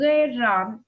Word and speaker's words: ghê rợn: Ngoài ra các em còn đọc từ ghê rợn, các các em chú ý tiếng r phụ âm đầu là r, vần ơn đọc là ghê rợn, và các em chú ý học phát âm cho đúng nhé.